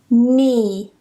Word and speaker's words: knee: Basically, whenever you get this combination of K and N together at the beginning of a spelling, we just don't pronounce the K. It's completely silent.